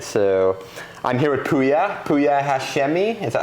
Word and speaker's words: Pouya Hashemi: my new apartment so I'm here with puya puya Hashmi is that how you pronounce it that's how he's perfect well thanks